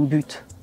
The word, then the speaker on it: but: problème c'est ça mon but donc je finis ma phrase avec le mot but là je vais le prononcer mais si je dis